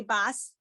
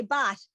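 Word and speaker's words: בת: And so that's why people say bas. But in today's world, we would say bat because that's what we're learning.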